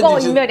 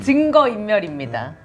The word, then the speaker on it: 증거인멸: 증거인멸이 아니라 증거인멸. 아, 예, 뭐그 발음은 하여튼 제가 이제 경상도 사람이어서 안 되는데 한 번만 더 발음해 보십시오. 증거인멸입니다.